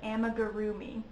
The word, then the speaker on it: amigurumi: doll things are called amigurumi which is at least how i pronounce it just kind of like how it's spelled um if that helps